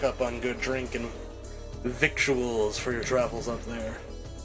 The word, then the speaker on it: victuals: Never heard the word victuals, eh, Speedy. It's a lingo out here on the trail. Doesn't look like it, but it rhymes with a little.